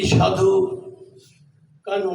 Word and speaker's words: সিধু কানহু: এমনকি সাধু কানহু, না উচ্চারণটা সাধু কানহু, তাদের কথা, সিধু কানহু সাধু একই ব্যাপার।